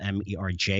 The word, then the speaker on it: MERJ: Again, that's spelled MERJ if you want to do your own research.